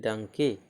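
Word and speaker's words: donkey: जैसे डी ओ एन के ई वाई है ना, ई वाई के पहले क्या है ना, तो डंकी, तो उच्चारण ए हो जाता है, डंकी, डंकी मतलब गधा या उसको खच्चर बोलते हैं, ठीक।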